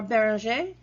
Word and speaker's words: Bérenger: with a man named bérenger or Barrow J if you would pronounce it in French and he has a